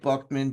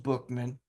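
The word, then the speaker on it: Buchman: BMAN, I know it looks like Buckman, but it's pronounced Bookman.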